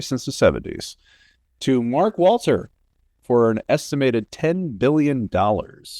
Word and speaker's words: Walter: the 70s to Mark Walter for an estimated $10 billion. Uh Mark Walter, not Mark Wahberg as you've mispronounced.